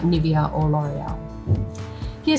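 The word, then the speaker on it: L'Oréal: Dove is clearly differentiated itself from other popular cosmetic brands like Nivea or L’Oréal.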